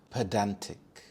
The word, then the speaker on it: pedantic: Pedantic, pedantic. The stress is on the second syllable dan, pedantic.